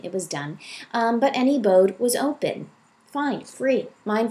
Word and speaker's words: N.E. Bode: anybody funny very funny I pronounce it any Bode but you know what do I know I just made up the pen name okay so um I